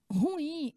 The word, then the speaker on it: ruim: é ruim hein é ruim mas a pronúncia da palavra ruim é uma palavra é de duas sílabas tá ela é oxítona ela é escrita assim ó ela é dividida assim ruim não tem duas vogais